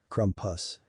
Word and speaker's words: Krampus: spriggan and was called the Krampus pronounced krumpus I did so many